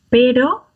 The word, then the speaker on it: pero: R1s and R2s, because the first one is between two vowels, the second one is a double R, and the double R trumps everything else, as it were.